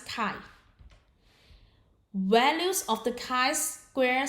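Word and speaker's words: chi: Kai Square distribution Den note Kai Square pronounce Kai values of the kai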